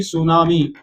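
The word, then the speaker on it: tsunami: और टी सुनामी, टी इसमें silent होता है, टी मतलब ट्रांसफर वेव्स होती हैं, इनको हम ट्रांसफर वेव जो है कहते हैं, इसका मतलब होता है।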